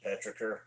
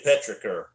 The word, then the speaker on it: petrichor: Oh Lord, dude, a 20-minute Petrichor. That's another one. I say Petrichor instead of Petrichor.